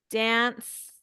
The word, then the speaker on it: danced: Danced, and we pronounce it with a T.